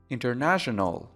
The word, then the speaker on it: international: International. International. International. البته ممکنه در این کلمه اون تی اول تلفظ نشه. International. هر دو تلفظ درسته.